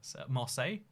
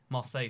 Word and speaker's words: Marseille: by the way love videos bye oh it's pronounced Masai Marseille Marseille says Aidan see that shows you my knowledge